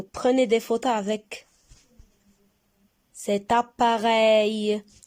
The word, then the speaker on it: appareil: Et là, vous prenez des photos avec cet appareil. Appareil. On a 3 syllabes. Appareil. Rey. On a le son ei dans la troisième syllabe.